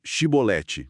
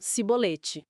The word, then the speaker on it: Chibolete: Então diz chiolete? E aí estava o problema, o dialeto deles. Exato. Os efraimitas não conseguiam pronunciar o X. Eles falavam cibolete.